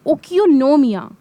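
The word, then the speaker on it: οἰκονομία: सबसे पहले इकोनॉमिक्स जो वर्ड है ये एक ग्रीक वर्ड है। इसको प्रोनाउंस करते हैं ओकियोनोमिया और इसका मतलब होता है हाउस होल्ड मैनेजमेंट।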